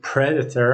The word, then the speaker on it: predator: And when we say predator, our stress is upon the letter P.